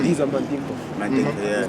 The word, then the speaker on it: Mandinka: It's Mandinka. Yeah. For real though? Yeah, you say it like Mandinka in Senegal, in Sierra Leone, you say Mandingo.